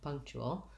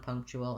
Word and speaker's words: punctual: um spiritual that um this ual is pronounced differently in american english than in some other dialects of english so let's break down punctual and talk about it first of all it has first syllable stress so the pung syllable